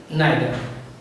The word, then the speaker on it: neither: We can also pronounce them either and neither.